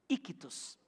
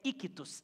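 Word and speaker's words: ἰχθύς: Ictus. Peixe em grego é ictus, I-C-H-T-U-S, ictus. Vamos falar juntos? Ictus. Fala só vocês? Você já falar grego já, tá vendo? Ictus. E a palavra ictus pode ser fugiu a palavra, um acróstico.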